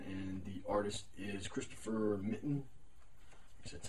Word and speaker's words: Mitten: uh Ian Edgington and the artist is Christopher mitten that's how you pronounce that um this story I've been collecting